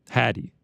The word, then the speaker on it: Hattie: busy man all right Hattie he said it's pronounced like caddy so okay uh so